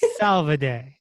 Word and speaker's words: Salvade: last name oh goodness do you want to say it salvaday soliday good job i did it italian yes you do the